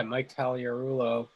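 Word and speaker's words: Mike Gallego: it because it was it had a g in it there's a silent g yeah yeah it's tough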